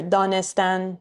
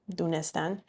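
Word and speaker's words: دانستن: So here, danistan in spoken Persian, dunistan.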